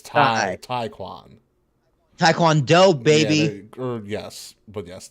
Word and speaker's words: Taekwondo: gave you the taiquan it is pronounced like Thai so it's not it's time taekwon Taekwondo baby or yes but